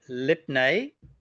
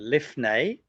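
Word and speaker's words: לפני: So lipne or lifnei. I didn't pay any attention to pronunciation in Bagad Kafat as a young boy.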